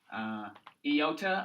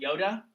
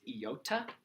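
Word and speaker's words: iota: hard to get distracted yota again it's not Yoda it's not Yoda it's yota great teachers get kind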